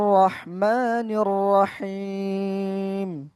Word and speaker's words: الرحمن الرحيم: أعوذ بالله من الشيطان الرجيم বিসমিল্লাহির রহমানির রহিম।